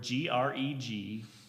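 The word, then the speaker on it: γρηγορέω: Well, be vigilant in the Greek it's the Greek word Gregorio. It looks like Greg Oreo. It's basically how it's spelled.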